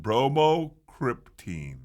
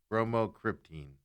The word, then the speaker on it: bromocriptine: Bromocriptine. It better not be a silent E in here. BROMO. Repeat the word. Cryptine. CRYPTINE. Bromocriptine.